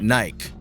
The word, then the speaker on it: Nike: In Russia, they pronounce it naik.